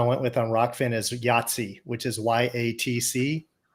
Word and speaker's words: YATC: It's called Yahtzee, YATC, like pronounced like Yahtzee, which I thought was cool.